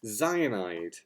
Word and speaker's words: Xyanide: No, it's not too hard. Xyanide, not cyanide, but Xyanide Resurrection.